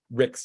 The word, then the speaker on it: Ricks: And second, I mispronounced Miss Rick's name. I said Hicks earlier. That was Miss Ricks from Louisiana.